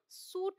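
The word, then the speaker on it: suit: तो यहां पर देखिए एस यूआई टी को हम सूट बोलते हैं यहां अगर ध्यान देंगे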